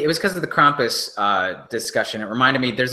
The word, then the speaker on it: Krampus: It's like German, right? Krampus. Yeah, it's German. It's a German word.